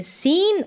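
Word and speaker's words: scene: और वाई आएगा तब हम एससी को स पढ़ते हैं। क्या पढ़ते हैं? स जैसे कि एस सी के बाद में यहां इ है। यहां पर भी आई है। तो इसको पढ़ेंगे सीन और इसको साइंस।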